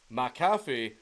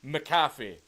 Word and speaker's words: McAfee: a Scottish son name and the way John pronounces it McAfee is wrong it's it's an incorrect pronunciation it's meant to be McAfee not McAfee McAfee so uh bear with me throughout the